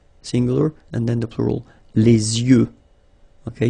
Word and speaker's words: yeux: and then the plural, les yeux. Okay, you make this liaison between the two. Les yeux. Okay, final X not pronounced. Les yeux.